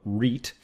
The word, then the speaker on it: REIT: investment trust or Reit which you pronounced is a Reit uh that's how it's pronounced why did you structure